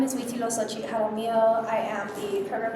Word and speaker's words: Huitziloxochitl: Yeah, Huitziloxochitl means hummingbird in a flower. It's Nahuatl. It has 5 syllables, and I hated it